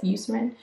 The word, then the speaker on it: Eucerin: So the Eucerin, I think is how you pronounce this, Eucerin, anti-pigment.